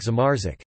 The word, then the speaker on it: zamarzać: For example, RZ represents RZ, not in words like Zamarzik, freeze, and in the name Tarzan.